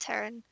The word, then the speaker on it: Theron: You've got Terran, spelled Theron but it's pronounced Terran.